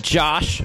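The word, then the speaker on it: Jash: and I'm here with Josh. It's spelled what, J-A-S-H? It is spelled J-A-S-H. But it's pronounced Josh.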